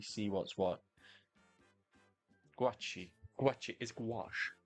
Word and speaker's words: gouache: The guachi?